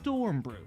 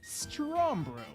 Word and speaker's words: Strombrew: It's Stormbrew, right? Look closely. It's actually Strombrew.